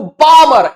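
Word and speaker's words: Balmer: क्या बोलते हैं इसको बामर एल साइलेंट देर आप बालमरौल ये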